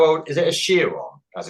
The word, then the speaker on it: Chiron: A Chiron, as it's pronounced.